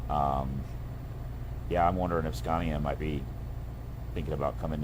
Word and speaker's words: Scania: if um maybe Scania it's Scania actually that's how they pronounce it um I think